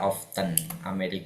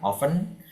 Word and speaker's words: often: Boleh dibaca often, boleh dibaca often. Orang Amerika akan mengatakan often, orang British akan mengatakan often.